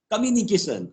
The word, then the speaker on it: communication: you a word communication communication is a word broken into five syllables communication come you if